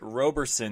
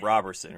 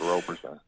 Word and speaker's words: Roberson: So it is Roberson, not Roberson, right? Correct, Roberson.